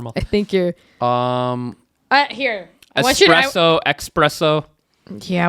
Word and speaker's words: espresso: think you're um here espresso espresso yeah when people use the X it bothers me espresso like can I get a xpresso there's no X in that name there's no X it's